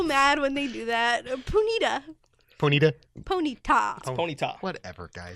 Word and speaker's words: Ponyta: are people saying oh ponyta pony Tony no no that's not what it it's the emphasis on the wrong so liable g yes it's